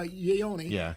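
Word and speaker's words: Ioane: Guard, but it's pronounced uh Yonyi.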